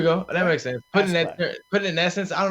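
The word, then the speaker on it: Askeladd: I think it's just Asklad. Right? I mean, it's just Ask and then the E and then Lad. So, like, Asklad. Like, almost like Affleck.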